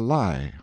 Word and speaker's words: Lei: high rock called the lie or lie pronounced like our word lie in the rhine and